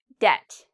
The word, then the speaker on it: debt: I did not pronounce the B because when you have B and right after T, usually you don't pronounce the B.